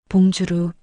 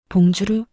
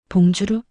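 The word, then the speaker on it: bonjour: 번주, 봉주루, 이렇게 발음합니다. 봉주루? 아니에요. 지읒 소리가 아니라 부드러운 지읒 소리예요. 봉주루?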